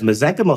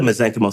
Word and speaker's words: mesenchymal: Whereas mesenchymal stem cells, they have a finite ability to grow, so they don't keep growing, which is why they're safe. And so, so when we grow the mesenchymal stem cells, the soup that they grow in.